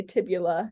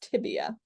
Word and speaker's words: tibia: will be lateral and i hope i don't hear you say tibula amphibia no no let's get those names right those are the common mis mispronunciation it is tibia okay so um this